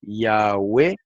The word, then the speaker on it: Yahweh: A saber, Yahweh se escribe así, pero se lee así como lo voy a leer. Yahweh, Yahweh, Yahvé y Yahweh.